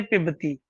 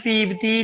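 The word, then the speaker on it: पिबति: धातु पा है और रूप चलते पिबती। और बच्चे इसको गलत उच्चारण करते हैं, पीबती, पीबता, पिबंती। ध्यान देना पी में छोटी ई है इसलिए पिबती, पिबता, पिबंती बोलना है।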